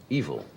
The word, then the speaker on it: Evel: It's not E-V-I-L, evil. It's E-V-E-L. I suppose he pronounces it evil, does he not? I think he says evil.